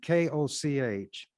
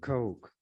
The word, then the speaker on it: Koch: Coke written on it, K-O-C-H. That's how they spell it. Some people pronounce it, who has that as a name, Coke, some Cook, others Koch. But the Kochs pronounce it Coke.